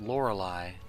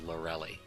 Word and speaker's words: Lorelei: 90s didn't know that that Lorelei was actually pronounced Lorelei in my head always did it as larell II yeah whatever words you